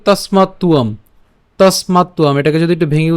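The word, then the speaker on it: তস্মাত্ত্বম্: আছে, এটা হচ্ছে আমাদের, আমরা জানি যে অন্তস্থ ব, যার উচ্চারণটা কার মতো হয়? উয়োর মতো হয়।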